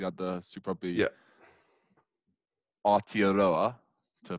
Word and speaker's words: Aotearoa: Aotearoa, to pronounce it correctly.